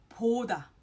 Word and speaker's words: 보다: For example, 보다. 보다 is P-O-D-A, 보다, rather than 보다. It's not 보, but 포. 보다.